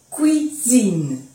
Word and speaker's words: cuisine: Acordarse que U, o sea, en francés, U, I es oui, cuisine.